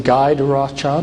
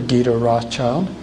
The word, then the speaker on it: Guy de Rothschild: And this is, you can pronounce his name Guy de Rothschild or Guy de Rothschild, if you want a more French pronunciation, Guido.